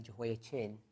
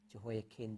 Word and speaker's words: Jehoiachin: Jehoiachin, we normally say Jehoiachin, but his pronunciation is actually kin, Jehoiakin. The CH is actually a bit tricky in the Hebrew.